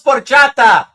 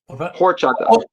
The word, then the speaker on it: horchata: Arin Dan said he loves porchata. No, there's no P. It's an H. Horchata. It's hor or orchata. Yeah, that's right.